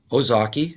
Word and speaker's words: Ozaukee: These 5 counties, Brad, I don't know how you pronounce this one. Ozaukee, is that how you say it? Ozaukee.